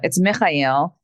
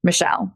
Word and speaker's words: Mechael: It's Mechael in Arabic. And when my dad immigrated to America, he spelled it Mechael and then decided to pronounce it Mechael to make it easier for people to say.